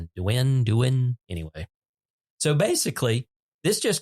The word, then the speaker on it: Douyin: WeChat, Bilibili, and I don't know how to pronounce that one. It's Douyin. Douyin.